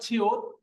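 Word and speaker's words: 치읓: এটা হলো ছিউত। ছিউতের উচ্চারণ ছ, আর ছ নিচে বসলে হবে ত।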